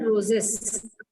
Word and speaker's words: roses: roses, roses, not roses. This will be pronounced as roses.